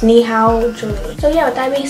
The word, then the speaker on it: Nihaoje: to make that money knee how will jewelry i'm i'm just i'm jack and that's how it's pronounced knee how julian so yeah with that